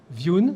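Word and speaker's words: Vjoon: Et pour ce marché de base, donc, on a un partenaire qui s'appelle Viun. Alors là, c'est pas français du tout. Ça s'écrit VJ2ON. Et c'est un partenaire allemand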